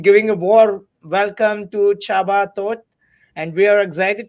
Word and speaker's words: Csaba: it correctly is it Chaba or sabba you you got it well so CS is like CH it's a Hungarian name pretty popular in Hungary